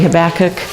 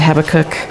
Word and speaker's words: Habakkuk: jumping into Habakkuk, and there are different ways to pronounce that. I pronounce it different ways. The actual real way is probably Habakkuk, but being an American, I pronounce it Habakkuk.